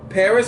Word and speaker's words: Paras: And the Pokemon that will be spawning around, Caterpie, Reno, Paris, or Paras, however you want to pronounce it, Venonat, Scyther, Pinsir, Ladybug, Spinarak, Wumpo, Kricketot, aka Kakarot, and Burmy.